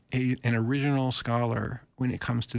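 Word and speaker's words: Origen: writings of uh the early Church Father uh origin whose name is spelled with an e at the end not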